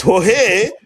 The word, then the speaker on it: Jorge: When that explanation was given to me that it's Jorge, but who gonna be pronouncing Jorge?